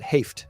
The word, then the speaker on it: Haight: I and that's why whenever I hear that, I always correct people and say pronounce it Haft. because GH should say make an F noise.